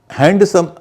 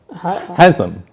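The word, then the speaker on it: handsome: तो वैसे ही डी का उच्चारण गायब हो गया धीरे धीरे, पहले हो सकता बोला जाता रहा हो।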